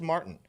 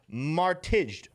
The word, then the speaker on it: Martijn: But there's a J in here, snuck in here, but I think it's silent. I think it's just Martin. Although it would be spelled, if I did it phonetically in English, Martijne. But I think it's just Martin Seiwels.